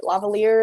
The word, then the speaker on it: lavalier: of like the lavalier lavalier is how you say it lav mics um does